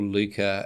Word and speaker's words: Luchau: If you look for Talking Tissue, perhaps with Stuart Hines, Till Luca and Whitney Lowe have one. I forget what it's called. Just look for Till Luca. It's spelled Luchau.